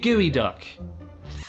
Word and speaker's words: geoduck: eat it yeah oh no no it's called gooey duck gooey duck uh and if you learn just